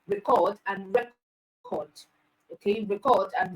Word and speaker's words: record: on a particular syllable if stress is placed on the firstable you say it is a noun if it is placed on the second syllable you say it is a verb all right so when